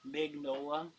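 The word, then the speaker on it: Mignola: I've been saying his name wrong for years. Magnola.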